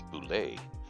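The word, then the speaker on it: bulette: the monster Boule yes I know it's spelled bullette it's Boule it's from the French Boule these I did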